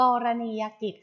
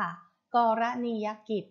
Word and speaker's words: กรณียกิจ: นอน ทำ อัน นี้ อ่าน ว่า กรณียกิจ ค่ะ กรณียกิจ นะ คะ มี ทั้ง หมด ห้า พยางค์ นะ คะ นับ จาก คำ อ่าน ก็ คือ กรณียกิจ นะ คะ มี 5 พยางค์ ค่ะ อ่า กรณียกิจ นะ คะ